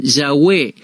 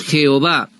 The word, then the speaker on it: Jehová: Algunos no pronuncian este nombre y otros lo pronuncian Yahweh, pero nosotros lo pronunciamos Jehová.